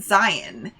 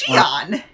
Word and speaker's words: Xi'an: We were always pronouncing it Zion. It's pronounced Oh. Xi'an.